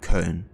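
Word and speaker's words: Köln: and yeah it is it's called cologne in English but in German it would be cone yeah there's quite a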